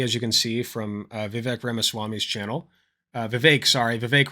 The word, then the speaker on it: Vivek: on a special guest known as Vivek, open quotation, rhymes with cake, close quotation, Ramaswamy, who I believe, has he dropped out officially?